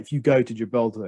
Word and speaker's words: Gibraltar: pronounced this way because in russian we say gibraltar oh i see yeah well to be fair on the second syllable gibraltar yeah gibraltar to be fair in spanish it is also pronounced with the syllable on on the uh the stress on the last syllable as it is the